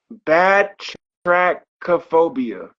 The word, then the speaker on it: batrachophobia: I'm gonna say it 2 times and then I'll spell it for you. Batrachophobia.